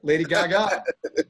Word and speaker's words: Lady Gaga: oh yeah that's right lady gaga i like to i like to put the uh the emphasis on the last uh god so i like to say lady gaga so as you can